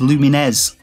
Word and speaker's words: Lumines: Lumens Remastered is available on Steam, PS4, Xbox One and Nintendo Switch. And yeah, I know, you're probably going to tell me it's pronounced Lumines. I don't care, I'm Northern.